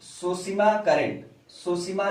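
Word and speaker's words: Tsushima: सुशिमा की गर्म जलधारा, सुशिमा में टी साइलेंट होगा। अधिकांश जापानी शब्द जो स से शुरू होते हैं उनमें टी साइलेंट होता है।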